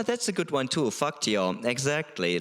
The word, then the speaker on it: fakt: Faktio, exactly. Like, what did you just call me? Yeah. Like they don't always go to all the trouble of pronouncing the T in that word fakt, which means really, real, like for real.